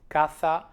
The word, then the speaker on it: caza: In Spain we would differentiate it, we would pronounce it caza. In southern Spain and Latin America, the last two words would be pronounced the same way, casa.